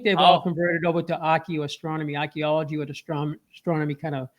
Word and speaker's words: archaeoastronomy: Archaeastronomy or what was it? That's a cool. Did I even pronounce that? What is it exactly? It's archaeoastronomy. Archaeoastronomy. Yeah, I love that.